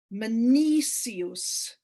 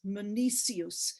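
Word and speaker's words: Menoikeos: and then we have meniscus and that's m-e-n-o-i-k-e-o-s meniscus it's another one of those ks that's pronounced as an s um and just do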